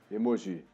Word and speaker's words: emoji: A pronúncia correta é essa mesmo, tá? Emoji.